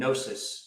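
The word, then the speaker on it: gnosis: word uh for this called nosis spelled with a G um and it's an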